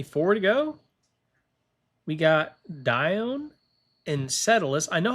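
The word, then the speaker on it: Dione: I think it's Dion. I don't know. Let's figure it out. D I O N E. Pronunciation. Dion. Oh, Dion. I was saying it wrong.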